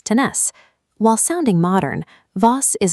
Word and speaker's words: tenés: The conjugation shifts the stress to the final syllable. By dropping the R and adding an S, tener becomes tenés.